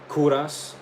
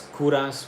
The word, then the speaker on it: Kovras: This is my brand new brand, Kuras. It's spelled K O V R A S. It's Kuras with a V where the U is supposed to be.